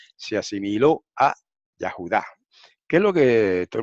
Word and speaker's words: Yahudá: Después de la Yod va una A. Entonces lo mismo debería pasar con el nombre de Yehudá y debe decirse Yahudá.